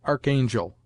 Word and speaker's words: archangel: as chemist scheme collar a rch is commonly sounded Arc before a vowel as Archangel and with the English sound